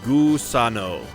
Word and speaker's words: Gusano: Gusano is pronounced Gusano. Gusano. Gusano. Gusano. Sounds Italian.